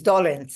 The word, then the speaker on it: Dolenc: every time I say doik does it yeah no well no in my own language Slovenian is doin here in Australia they call me because the last one is c k do doing but back in Slovenia